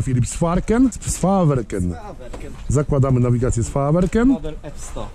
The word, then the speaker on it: Sveaverken: Jak to się wymawia, Filip? Sfarken? Sfaverken.